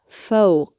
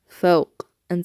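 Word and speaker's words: فوق: So the letter qaf, let's do our first word, fawq, fawq. Notice the sound at the end. I know it's probably sounding strange that you're hearing me make that noise, but you're listening for that choking sound.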